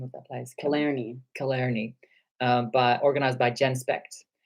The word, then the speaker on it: Killarney: a big conference in Ireland how do you pronounce that name of that place Killarney Killarney but organized by genspect that went on